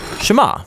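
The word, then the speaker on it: שְׁמַע: Now the first word of the Shema is hear or listen, which in Hebrew is pronounced Shema.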